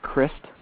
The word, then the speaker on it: Christ: police officer um Cliff Christ and then the last name is spelled like Christ but it's pronounced Chris and um a few